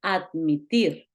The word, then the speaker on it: admit: En este caso, admit quiere decir, tiene dos sílabas, tiene dos partes, pero es acentuada. O sea, la I se lleva la fuerza, se lleva el acento.